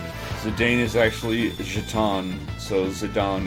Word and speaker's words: Zidane: Mega Magicite says, then again, Dissidia also pronounces Cecil's name with a short E rather than a long E, and pronounces Zidane's name as Zidane.